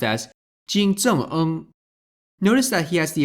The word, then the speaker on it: 金正恩: North Korean Supreme Leader, that's his official title, Kim Jong-un is written and pronounced as Jin Zheng-eng.